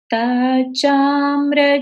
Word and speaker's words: तच्चाम्र: मिलकर तच हो गया, लेकिन इसको बोलेंगे कैसे? तत् तत् चाम्र चारु कलिका निकरैक हेतु। फिर से देखिए, तत् चाम्र चारु कलिका निकरैक हेतु। तच्चाम्र चारु कलिका निकरैक हेतु।